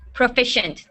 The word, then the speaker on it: proficient: Proficient.